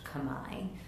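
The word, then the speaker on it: Khmer: what is this the local language uh it's Kamai it's spelled KH hm so phonetically would be Kam but it's most often pronounced Kamai so it's the Kamai language they refer to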